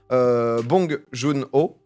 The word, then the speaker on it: Bong Joon-ho: Côté récompense, donc du coup, Parasite, 4 Oscars, meilleur film, meilleur réalisateur, Bong Joon-ho. Ouais. C'est bien prononcé.